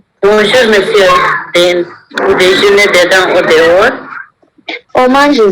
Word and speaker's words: dehors: S will not be pronounced in both.